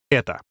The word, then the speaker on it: эта: полезного действия он обозначается греческой буквой эта хотя она читается как э выглядит эта буква как